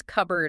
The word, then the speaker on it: cupboard: Okay, let's use cupboard as an example, k u b a r d.